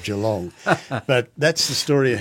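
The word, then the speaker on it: Geelong: so you quite often you get a mispronunciation like d long instead of G long but that's the story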